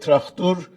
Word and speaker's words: Traktor: Tabriz has a soccer team called Traktor Sazi, which Azerbaijanis call it Traktur. They insist on that Turkish pronunciation of the name, and by that, basically